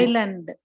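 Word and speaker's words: island: அதை அப்படி நம்ம படிக்கக்கூடாது ஐலாண்ட் ஐலாண்ட் படிக்கணும் ஐலாண்ட் இத வந்து நீங்க பேசுறப்பயும் சரி எழுதுறப்ப படிக்கிறப்ப எல்லாமே நீங்க எழுதுறப்ப எஸ் இருக்கும் ஆனா படிக்கிறப்ப ஐலாண்ட்ன்னு படிக்கணும் ஐலாண்ட் அந்த எஸ் நான் போட்டிருக்கிறது ரெட்ல போட்டிருக்கிறதுனால நீங்க வந்து உச்சரிக்கிறப்ப அந்த வார்த்தையை அந்த எழுத்தை உச்சரிக்க கூடாது ரைட் இது ரொம்ப ஈஸி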